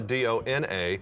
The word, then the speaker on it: Dona: spear came in and the original pronunciation of my name was supposed to be Dona don't know yeah it